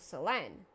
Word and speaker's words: Selen: Dragoon, so Selen. Selen herself emphasized the second syllable, but if we take it as a Japanese name, the first syllable would be more correct, so kinda either one.